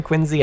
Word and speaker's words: Quincy: mother's side, Colonel John Quincy, a prominent individual in Braintree, which Quincy, Massachusetts sprang from. And yes, once again, contrary to popular belief, this should be pronounced Quincy rather than Quincy.